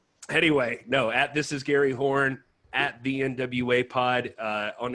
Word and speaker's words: Horne: It's Horne. There's lots of jokes to make. My dad had one. He would always say the E is silent until midnight, ladies.